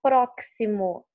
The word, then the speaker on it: próximo: Você não fala próximo, ela não tem o som de que si, como de táxi. Você fala próximo.